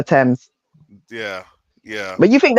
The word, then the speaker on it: Thames: river of London but it's actually pronounced Thames the River Thames yeah yeah but you